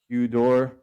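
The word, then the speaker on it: ὕδωρ: So this upsilon, when you accent it, you can ask anybody who speaks Greek, it becomes the hu. You'll see it like written like in the word. So we pronounce like hydro or hudor.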